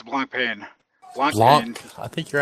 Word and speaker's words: Blancpain: All right, I do want to talk about a little about the new thing that iRacing has, which is their new Blancpain GT Series.